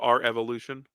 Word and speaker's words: R Evolution: here's the thing so Revolution is February it's pronounced our Evolution yes NXT takeover R Evolution um so sitting